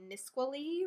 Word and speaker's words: Nisqually: weekend a mutilated dog was found along the Nisqually River enough that's how you pronounce it it was skinned and its tail